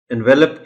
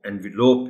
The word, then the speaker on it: envelope: اس کو اکثر و بیشتر اس لفظ کو غلط بولا جاتا ہے، انویلپ کہتے ہیں لوگ. بالکل غلط ہے. آپ یہ بچوں کو بتائیے گا کہ لفافہ جو ہوتا ہے اس کا انگریزی میں جو لفظ کا تلفظ ہے وہ انویلوپ ہے.